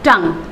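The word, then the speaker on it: tongue: building नहीं बोलेंगे इस बीच ऑयल तो यह silent rebel in chief not यू है अगला है टांग टांग यानि जुबान तो इसको भी हम क्या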